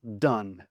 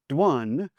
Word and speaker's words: done: If you tried to pronounce this as a new learner of English, there's almost no way you would pronounce this done. Because if you take the d off, it's one, so it' be dwan. Or if you if you follow the o ne, it would be own.